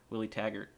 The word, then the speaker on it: Taggart: Willie Taggart.